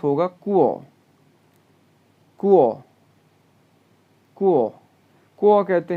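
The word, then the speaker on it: 国: ये प्रोनाउंस होगा कुओ, कुओ, कुओ, कुओ कहते हैं कंट्री को जी।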